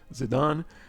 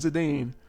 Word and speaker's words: Zidane: was Justin specifically pointing out that the correct pronunciation is zidan and I just thought it was funny how people in the in the comments or in the chat were kind of saying like oh it's zidane zidane but actually I remember back in the world